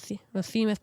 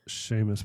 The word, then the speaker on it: Seamus: No, I'm just trying to think about the Your long shot was Seamus power. This is Sheamus power. How do you say it? Sheamus power.